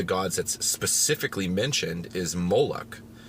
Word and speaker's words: Moloch: And one of the gods that's specifically mentioned is Moloch, right? It can be pronounced Molech, Moloch.